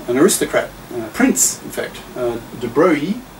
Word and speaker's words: de Broglie: Was a French guy, an aristocrat, prince, in fact, de Broglie. I'm pronouncing it in the French way.